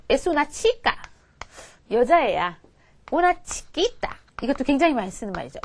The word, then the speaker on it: chiquita: una chiquita 이것도 굉장히 많이 쓰는 말이죠.